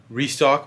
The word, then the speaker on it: Rexstock: and in the description it's at restock but it's spelled r-e-x-s-t-o-c-k just to let you guys know that's pretty much a